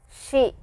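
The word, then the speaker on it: し: You will notice that this sound is a little different. This is an exception here. It is not she, but it is she, similar to the English she. Pronunciation wise, it is similar to she in English. So, please remember that.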